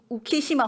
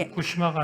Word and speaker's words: 우키시마: 고향으로 향하기 위해서 부산행 우키시마 홀에 올랐습니다 꿈에 그리던 땅 해방된 조선으로 향하던 조선인 7천명을 태운 이회 그 후쿠시마가 아니라 우키시마 우키시마 제 발음이 안 좋았나